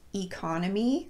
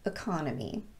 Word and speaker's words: economy: root word for example this word can be pronounced economy or economy but I would recommend using the second one the schwa vowel just because it's easier to Simply follow a rule that we